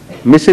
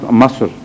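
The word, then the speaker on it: مصر: Misr is, I think, pronounced Masr by the Egyptians.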